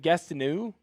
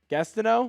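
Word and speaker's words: Gastineau: Uh Mark, uh is it Gastonu? Gastonau, is that how you say his name? Gastau.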